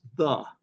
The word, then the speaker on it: ye: It's not a Y, it's a letter called thorn, and it stands for the TH sound, the. So it should never be pronounced ye old, it's the.